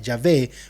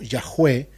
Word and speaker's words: Yahvé: Y el tetragramatón, que los eruditos dicen que se pronuncia Yahvé o Yahweh en inglés, porque dicen que este nombre se pronuncia como cuando uno respira, como así como Darth Vader.